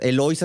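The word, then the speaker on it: Eloísa: colorada, hecha por la Eloisa, una vecina de ellas. Eloisa es así con el acento en la O, Eloisa.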